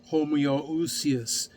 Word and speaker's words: homoousios: exists as three persons of the same essence, homoousios in the Greek. Homoousios is how it's pronounced in the Greek, which means a differentiation of unity of Father, Son, and Spirit.